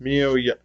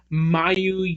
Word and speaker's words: Miyu: Athena faces off against Miyu Yamashita. And no, ring announcer, it's not Yamashita. Oh, I know. That bothered me, because Bobby Cruz had pronounced her name as Mayu Yamashita. It's like, and then no.